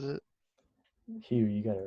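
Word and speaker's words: Hough: like the Hugh space or the however Aaron pronounces it. Hugh, you got it right. Yeah, the Hugh space. Yeah, the guy pronounces it like Huff.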